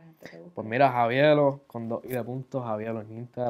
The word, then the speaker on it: Javiielo: Pues mira, las 2i vinieron, primero era por la pronunciación. Yo antes lo pronunciaba de otra manera, y por eso fue que le incluí la i. O sea, era como que hacía la pausa, el Javi como que hacía la pausa, ¿entiendes?